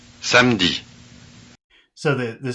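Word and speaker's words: samedi: notice that the vowel e is not pronounced Sandy so the the spelling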